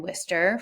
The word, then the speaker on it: Worcester: Uh so Yumaschan is located in Worcester for anyone not familiar with the city first of all that is how you pronounce it.